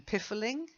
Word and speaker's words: piffling: The only way you get the I sound is if, like in piffling, you've got a double F.